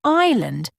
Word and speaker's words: island: For example, in island, there's is silent, and in debt, the B isn't pronounced.